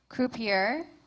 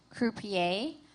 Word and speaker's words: croupier: So your word has 3 pronunciations: croupier, croupier, croupier.